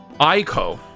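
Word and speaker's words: Eiko: Eco? Eco. 6. She's 6 years old. Horned human. Okay, Eco? How do you guys pronounce this? Eco? Eco? Is it like 3 syllables or 2? Ico.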